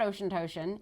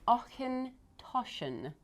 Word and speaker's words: Auchentoshan: So it is not Ocean Toshan. It is Auchentoshan.